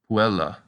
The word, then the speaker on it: puella: on the a and two following consonants can also make the second-to-last syllable heavy for example puella and teatrom let's review our practice